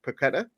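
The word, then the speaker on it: Paquetá: or did anyone see the the highlights on the Newcastle YouTube channel uh how uh real Matthew Ray is back pronounced paquetta in there is there anybody that automatically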